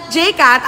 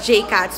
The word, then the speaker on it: Jcat: Just wanna clear out there that Jcat, ang dilim ko, ato. I just wanna clear it out there that Jcat is not pronounced with an S.